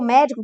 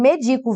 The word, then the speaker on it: medico: Você pronunciou médico, que você pronunciou médico tá errado. Tá escrito medico, viu? Medico.